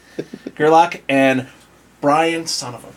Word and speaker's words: Gerlach: It's Gerlach and Brian, son of a bitch, I am never gonna...